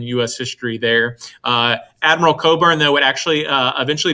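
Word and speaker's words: Cockburn: burning of washington dc admiral coburn that's how you say his name admiral coburn americans quite frequently made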